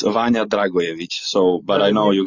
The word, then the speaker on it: Dragojević: Yeah, well, it's Vanja Dragojević. So, but I know you guys would say Dragojević. Dragojević. Uh so, the J in Serbian language is pronounced as Y.